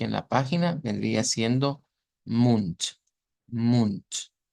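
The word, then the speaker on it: Mund: hemos tocado con anterioridad en donde vemos que termina escrita una letra d pero se pronuncia con t el ejemplo que tenemos aquí en la página vendría siendo munt munt e Pero podemos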